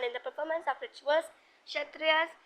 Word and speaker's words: Kshatriyas: Kshatriyas इसमें के silent होता है, were expected to defend the society and the land and to engage in warfare if necessary.